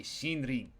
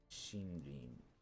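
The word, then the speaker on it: 森林: Number 6 is shinrin. Shinrin is forest or woods. Both of these kind of mean forest. One of these is forest, the other one is grove. And together you get a shinrin, or a forest and woods.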